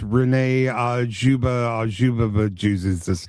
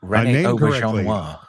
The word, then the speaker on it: Rene Auberjonois: You're the first person I've ever heard pronounce Rene Auberjonois. It's Rene Auberjonois.